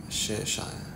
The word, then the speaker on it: Cheshire: Cheshire, is how you say it. Cheshire.